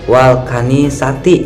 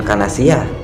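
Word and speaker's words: والكنائسِ: Terus wal kanisati, itu bukan kanasiyah.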